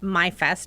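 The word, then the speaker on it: Maifest: We are full into the bicentennial year, and we are getting ready for Mayfest, sometimes pronounced MyFest because it's spelled M-A-I-F-E-S-T.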